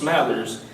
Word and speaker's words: Smathers: When we first met Jesse, we were trying to figure out how to pronounce his last name, and he told us Smathers.